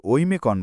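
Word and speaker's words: Оймякон: অহিমাত বা অহিমাত সীমানা স্থানীয়রা এটিকে ঐমেকন বলে আর যেহেতু আমরা এখানে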